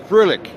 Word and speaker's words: Froehlich: I don't know, we discussed why we'd never met before, and it is Thomas, now you pronounced it, Froehlich? Froehlich.